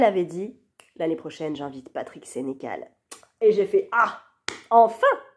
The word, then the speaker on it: Patrick Sénécal: sa librairie, elle avait dit, l'année prochaine, j'invite Patrick Sénécal.